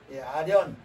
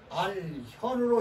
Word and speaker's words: 알현: 배운 것을 아련이라고 하지요 아련 우리가 하나님을 뵐 것입니다 하나님을 아련할 것입니다 그때는 알 현으로 읽어요 주의해야 할 단어입니다 쉬운 글자지만 볼 겸 할 때가 있고 현으로 발음할 때가 있다 그 말이죠 임금님이 볼 때는